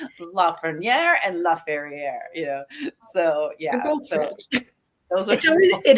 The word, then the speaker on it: Lafreniere: They were two old, and they kept calling LaFerriere, and I was like, who is this?